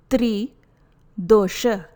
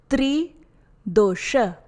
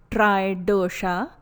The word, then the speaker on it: Tridosha: Pronunciation is Tri Dosha. Please note the pronunciation for letter T and D. It's a soft dental sound. Tri Dosha. It is not Tri Dosha. Correct pronunciation is Tri Dosha.